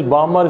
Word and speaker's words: Balmer: This one is Balmer series. L is silent in this.